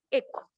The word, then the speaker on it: echo: Bueno, se escribe hecho, pero se pronuncia echo, que es el que me le da el envío a la información.